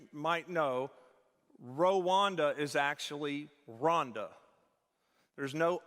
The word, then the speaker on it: Rwanda: So I'm here on his benefit, on his behalf, to tell you it's Rhonda, okay? Pamela will say it's like, help me Rhonda, help me Rhonda.